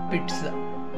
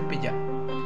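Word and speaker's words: pizza: Next word पिट्ज़ा, पिट्ज़ा। Don't say पिज़्ज़ा, पिट्ज़ा।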